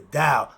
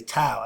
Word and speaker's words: Dao: It's supposed to be the D sound.